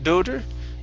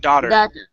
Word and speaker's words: daughter: word here is daughter instead of do doter it's da give me an ah sound here daughter okay very good very